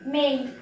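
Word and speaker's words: May: মে, সঠিক উচ্চারণ হবে মেই। মেই।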